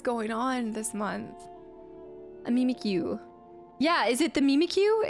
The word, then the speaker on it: Mimikyu: How do you pronounce a Mimikchu? A Mimikyu.